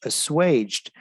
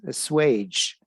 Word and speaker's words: assuage: It's pronounced assuaged. Make an unpleasant feeling less intense. Assuage.